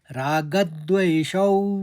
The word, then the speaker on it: रागद्वेषौ: रागद में हमने आघात लेते रागद कहा, फिर द्वेषौ, देवशौ के संग मैंने व का आघात लिया क्योंकि आगे वाला शब्द व्यवस्थितौ है। तो रागद्वेषौ व्यवस्थितौ।